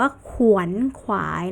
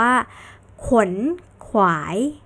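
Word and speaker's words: ขวนขวาย: เป่า ขลุ่ย เป่า ขลุ่ย อ่าอัน นี้ ไม่ ได้ อ่าน ว่า ขวัญ ขวาย นะ คะ เด็ก ๆ จะ ต้อง อ่าน เหมือน เสียง คำ ควบ แท้ นั่น ก็ คือ อ่าน ว่า ขน ขวาย ขน ขวาย ก็ ควัก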